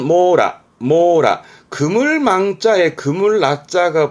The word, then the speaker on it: 網羅: 망입니다 그물 망자 그니까 이게 그렇죠 이게 망입니다 발음은 모라 모라 그물 망자에 그물 라자가 붙어서 망라 망라